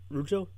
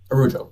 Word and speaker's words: Laraujo: Rujo? Laraujo. Araujo. Oh, gosh. Okay. It's literally just as it's spelled in the Okay.